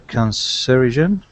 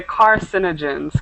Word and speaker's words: carcinogen: Always they say that they are cancerogen, uh, We say carcinogens, car carcinogens. carcinogen, Right. Let me and type it in the chat. yeah, no, but the pronunciation is not same in French.